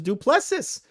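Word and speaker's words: Du Plessis: It looks like they're gonna have Strickland versus Duplessis for January 20th. That would be Duplessis. That's not how you pronounce that, Duplessis. No, Duplessis. Why would you pronounce that Duplessis? Because that's how you pronounce it.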